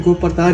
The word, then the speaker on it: गोप्रतार: अब ये बिगड़े स्वरूप में गुप्तार घाट के नाम से जाना जाता है। ऐसे एक्चुअल में गोप्रतार ही है ना। हाँ, अच्छा। लेकिन बिगड़े स्वरूप में लोग उच्चारण नहीं कर पाते, अलचारण बुझ के गलत कहीं नाम रख दिया गया।